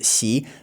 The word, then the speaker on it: Xi: His surname is Xi, which it starts with X. And the X sound in Chinese, to give you a very basic explanation of this sound, it's like halfway between a sh and a So, you can literally try this with your mouth. First, go sh and then go s and then go halfway in between.